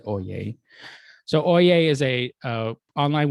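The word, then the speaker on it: Oyez: to a website called oye even though it's spelled o y e z you pronounce it oh yay so oia is a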